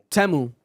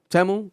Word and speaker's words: Temu: It's actually pronounced Temu. Temu.